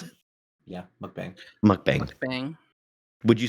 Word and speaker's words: mukbang: Is that how you pronounce it? Yeah, mukbang.